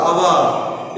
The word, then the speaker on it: hour: Because hour, H-O-U-R, hour. In this word there is a silent letter is there. What is that? H is the silent letter. H is the silent letter. So the pronunciation of the word is hour. Hour. Hour is a consonant. Hour is a vowel sound.